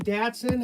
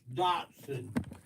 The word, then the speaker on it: Datsun: datsun is it dotson dadson how do you say it it's dotson but it's spelled with an a isn't that weird dotson i had a